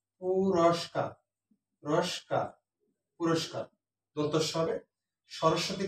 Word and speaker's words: সরস্বতী: সরস্বতী বানানটা আগেও কয়েকটি ক্লাসে বলেছি, মাঝখানের স্বটা দুইবার উচ্চারিত হয়, এই জন্য মাঝখানের স্বয়ের সাথে বফলাটা থাকবে, প্রথমটায় থাকবে না।